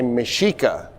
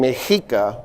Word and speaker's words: Mexica: So uh my what I've noticed is a lot of people will say mishika sh. I'm saying mika. And here's why. When the Spanish conquered me Mexico, the X at the time made the C sound.